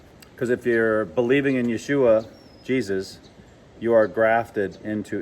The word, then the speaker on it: Yeshua: and it's stuck okay i just call him yeshua because that's the hebrew pronunciation because of the letter